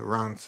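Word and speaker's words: Reims: I'm very very sorry how do you pronounce this place and Rance is not what you expect no but uh oh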